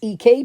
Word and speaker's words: EK Tools: And a person in the guild, you know, politely said, "By the way, it's EK tools, not EC tools."